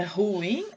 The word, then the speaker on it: ruim: tá depois ruim e agora onde é que tá a sílaba tônica o novo a ruim ou é ruim unha mais forte então ela é uma oxítona e e agora é